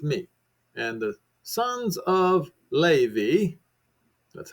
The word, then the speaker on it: Levi: And the sons of Levi, that's how it's pronounced, gathered themselves together unto him.